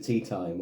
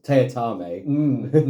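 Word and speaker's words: Teatime: And the way it's Mr. Tea Time, or Teatame, as he insists it's pronounced, the way he goes about this is ingenious.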